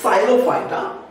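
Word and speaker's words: Psilophyta: Phylum साइलोफाइटा, इसमें P silent है, okay, साइलोफाइटा and whisk ferns इनको कहा जाता है।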